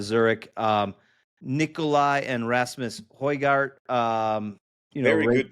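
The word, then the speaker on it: Højgaard: Um Nikolai and Rasmus Hoygart. Um you know, very good pronunciation of the Hoygard.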